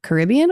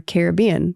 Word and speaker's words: Caribbean: that would be like do you say Caribbean or Caribbean? But it's spelled the same. But like depending on which one you So, it's like up to you.